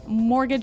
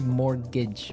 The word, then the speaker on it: mortgage: I mean, there's this this strange mortgage with a T. Yeah, it has a T in it, but you don't pronounce it. You say mortgage.